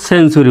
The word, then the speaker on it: century: আর যদি TURY দেখেন তাহলে চুরি উচ্চারণ করবেন, যেমন CENTURY, এটা কিন্তু সেঞ্চুরি উচ্চারণ হবে।